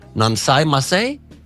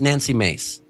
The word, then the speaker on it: Nancy Mace: on Thursday after rep nansai masay is that I'm being I'm being told it's Nancy mace repeatedly mispronounced vice president